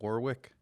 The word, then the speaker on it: Warwick: in warwick what how do you say that warwick warwick rhode island okay who are some of